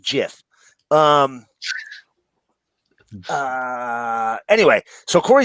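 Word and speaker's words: GIF: just so you know it is technically pronounced jiff um uh anyway so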